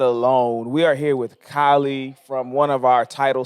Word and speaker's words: Kylei: We are here with Kylei from one of our title sponsors, Stretchzone. What's going on, Kylei? Speaking of How beautiful are ya? people, Yeah, beautiful people. Kylei, not like Jenner, right?